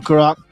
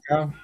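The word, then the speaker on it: Curaçao: Little light rum, some blue caraco. How you say it? Caraco? Caracal. Curacao.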